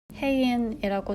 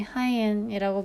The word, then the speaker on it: 혜인: 아직도 기억이 나는데 중학교 때 수학 선생님이 하이엔이라고 발음을 해서 그게 아니라 혜인이라고 몇 번을 얘기해도 차이를 모르시더라고요.